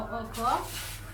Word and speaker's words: occur: For occur, the stress is on the last syllable.